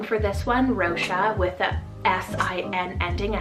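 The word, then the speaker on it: Róise: next one i have the name rosha spell r o with afada i s e rosha there is another spelling for this one rosha with the s-i-n ending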